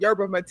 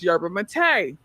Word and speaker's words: yerba mate: So I said yerba mate. I always said yerba mate. I found out that it's yerba mate.